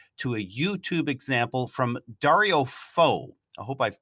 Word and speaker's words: Dario Fo: In the show notes, we've also provided a link to a YouTube example from Dario Fo. I hope I've pronounced that right.